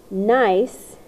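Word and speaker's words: gneiss: schist that's SCH ist nice even though you pronounce it nice it is spelled G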